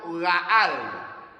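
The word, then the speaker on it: גאל: En los textos que hemos leído en Números 35, 19, la palabra vengador proviene de una palabra hebrea que se pronuncia en castellano Gaal, doble A, Gaal, que significa cercano.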